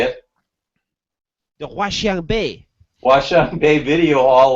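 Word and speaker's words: 华强北: headed, and in the Hockey, how do you pronounce that? Hockey Bay Market. Huaxiang Bay.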